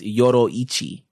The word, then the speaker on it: Yoriichi: How do you say it right? It's Yoroichi. That's what I said.